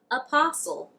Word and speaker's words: apostle: If you see a word that ends in stle, it would be right to assume that the T is silent. Let me give you some examples. Whistle, wrestle, apostle, castle, thistle, hustle.